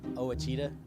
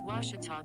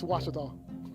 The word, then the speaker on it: Ouachita: university back in texas everybody pronounces it wichita but really it's ouachita washington washington how would you pronounce it it's washita baptist university get it right it's watertall people it's washita washita welcome back to